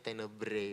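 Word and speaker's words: Tenebrae: sebagai tenebre tenebre tenebre t e n e b r a e tulisannya bacanya tenebre begitu ini adalah tenebre ini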